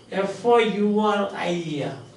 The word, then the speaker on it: Fourier: And the French word Charles, the next word is spelled F-O-U-R-I-E-R. Charles, he was a socialist, F-O-U-R-I-E-R, and it is pronounced Fourier.